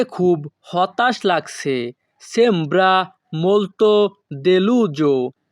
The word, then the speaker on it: deluso: sembra molto deluso। এখানে SO এর উচ্চারণ হবে জো।